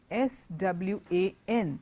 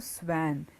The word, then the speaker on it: swan: The next word is S-W-A-N. It's a Aryanam that you see in the water. It's not a swan. It's not a swan. The word is pronounced swan.